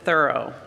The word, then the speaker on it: Thoreau: I have to tell you, I learned you have to pronounce it Thoreau.